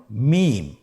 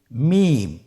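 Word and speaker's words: ميم: মিম। হরফটির নাম কি? মিম। মিম হরফটি উচ্চারণের ক্ষেত্রে অবশ্যই বারিক হবে, পাতলা হবে এবং তিন আলিফ টেনে উচ্চারণ করতে হবে।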